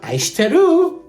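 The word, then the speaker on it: 愛してる: Aishiteru! What? What? That's Japanese. So it's spelled like this.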